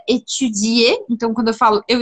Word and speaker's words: étudier: Finais de palavras, como o verbo que você tanto gosta, que é o verbo étudier, em francês ele tem um i. Étudier, étudier, e não tem s. Esse é um erro muito comum, de brasileiros e pessoas que falam português. De colocar ou de colocar um S e falar estudar, ou de não colocar o I, ou das duas coisas.